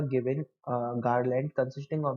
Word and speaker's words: Garland: तो वैसे इसे गार्लैंड बोलते हैं, आर इसमें साइलेंट है।